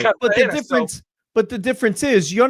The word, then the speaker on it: Cartagena: So I'm not going to go Cartagena. Right. That's not how you say it. It's called Cartagena.